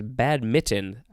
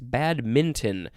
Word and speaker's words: badminton: game badminton now i kind of thought it was bad mitten that's kind of how i i said it i feel like but it's bad minton b-a-d-m-i m-i-n-t-o-n but actually i'm looking at the pronunciation guide and both are correct bad mitten and badminton are both fine uh so this is